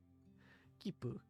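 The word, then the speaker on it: 切符: When you see the small tsu, you don't pronounce it as tsu. Instead you treat it as a very brief pause before pronouncing the consonant, not continent. Kipu, yes, kipu.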